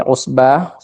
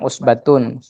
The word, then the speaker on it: عصبة: Iya, kembali lagi saya tekankan bahwa ketika kita wakaf di usbah, ini misalkan ya kita wakaf di usbah, jadi jangan kita nanti bacanya usbatun. Tapi kalau kita sambung seperti bacaannya Ustadz Ahmad tadi, jadi usbatun inna.